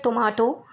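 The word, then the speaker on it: tomato: जैसे टोमेटो एक वर्ड है जिसको ब्रिटिश इंग्लिश में टोमाटो और अमेरिकन इंग्लिश में टोमेटो बोलते हैं।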